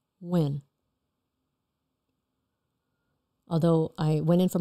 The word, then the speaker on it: Nguyen: How do you pronounce your last name? Nguyen. Nguyen.